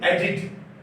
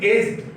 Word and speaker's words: aged: But mind it, that we don't pronounce it agit. This is aged. This is never agit. The sound is aged.